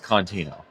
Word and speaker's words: Contino: It is the way I spell it in my bio. Lillycontino. It's Contino.